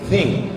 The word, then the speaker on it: think: Think, T sama H itu bacanya think.